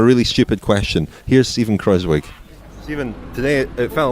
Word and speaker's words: Kruijswijk: Steven Kruijswijk, sorry, the pronunciation please, Dan. Steven Kruijswijk, as we say in Holland. Steven Kruijswijk.